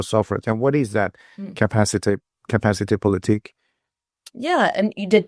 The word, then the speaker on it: capacité: And what is that capacité politique? Yeah, and you pronounce it just fine.